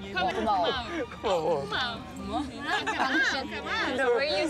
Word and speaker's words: 고마워: 고마워. 고마워.